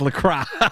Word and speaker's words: LaCroix: Dude, it's pronounced La Croix.